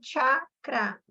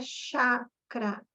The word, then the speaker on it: chakra: de energia e aí a gente fala chacra não é Chácara é chá um chá esse chá não é o nosso chá de tomar chá de xarope não é chacra o jeito certo de falar claro que isso não